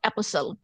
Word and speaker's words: apostle: পল, এরা তাদের 12 অ্যাপোসল, তো ওদেরকে বলা হয় অ্যাপোসল। এখন তোমরা আমাকে বলো, এই ওয়ার্ডটা আমি জানি, এটা উচ্চারণ হবে অ্যাপোসেল, বাট আমি যদি খেয়াল না করি আমি প্রত্যেকবার মিস্টেক করি।